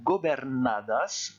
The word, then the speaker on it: gobernadas: Alors ce que je vous conseille de faire, même chose, c'est de faire une micro-pause entre la partie en rouge et la partie en orange. Gobernadas. Et puis petit à petit, vous accélérez. Gobernadas, gobernadas, gobernadas, gobernadas. Et on n'oublie pas de prononcer le S à la fin.